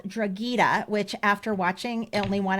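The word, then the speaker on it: Drogheda: It follows I know Dragita. It's spelled D R O G H E D A Dragita.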